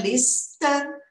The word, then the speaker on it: listen: Outra dica aqui de som, esse T eu também não falo, tá bom? Ele é mudo. Então, fica listen. Dá uma vontade de falar, né? Listen. Tira esse T, listen. E aqui, ó, listened, listened, listened, tá bom?